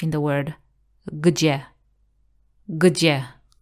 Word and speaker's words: gdzie: Gdzie? Gdzie? So this G, G sound is kind of similar as in the word jeans. G. G. G. Like in the word gdzie.